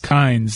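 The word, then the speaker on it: Kines: in here that Joe Kine, is it Kine or Kynes, the interim coach at Alabama? Doesn't he spell it with an S? Kynes.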